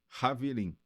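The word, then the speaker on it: חברים: Haverim. Só que Haverim se escreve com CH, é Chaverim, Ah, que em hebraico significa amigos em hebraico. Haver é amigo em hebraico.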